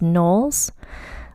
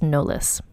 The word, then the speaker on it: Knollys: o l l Ys and I believe it's pronounced noes like the sem way as Beyonce noes Carter so her name is Leti nolles although it looks like and I said it